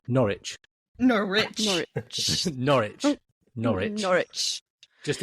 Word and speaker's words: Norwich: It's Norwich. Norwich. Norwich. Norwich. Norwich. Just ignore the W. Norwich.